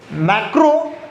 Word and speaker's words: macro: MA, इसमें है MACRO, मैक्रो, और ये है माइक्रो। ठीक है, प्रोनाउंसिएशन थोड़े सेम लग सकते हैं पर सेम नहीं, ये माइक्रो है, ये मैक्रो है।